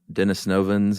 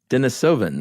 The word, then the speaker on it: Denisovans: and Homo sapiens and uh Dennis novans and that's right right there's an extra n in there I think denisovans yeah Dennis novin sounds